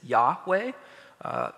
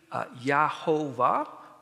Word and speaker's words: Yahweh: the J sound from Hebrew doesn't have a j sound so we're confident that it was it I mean you can supply your own vows most people pronounce and Scholars uh are pretty confident that it is Yahweh it could be yahova or something like that either way okay but